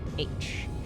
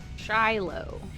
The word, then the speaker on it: Shiloh: The book says the answer, the Battle of Shiloh, I think is how you pronounce that. Shiloh.